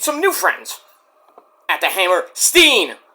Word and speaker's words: Hammerstein: built not the hammer Stein not the it's not it's not the Manhattan Center it's the hammer Steen Borum if you can't if you pronounce a hammer Stein I'm I'm GNA come